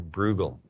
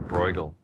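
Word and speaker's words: Bruegel: student of the painter Peter bugal as I pronounce it or brle as some people people say and you look at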